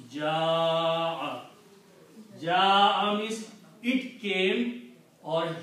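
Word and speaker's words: جاء: The reason is that this hamza causes that alif to be pronounced long. Okay? So this hamza will cause this alif to pronounce long, and the pronunciation will be ja'a 4 to 6 times.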